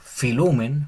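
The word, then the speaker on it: φιλοῦμεν: Aquí pasa algo interesante porque la palabra queda como filumen. Filumen, porque la o con la u se pronuncia como u, como les dije anteriormente, filen.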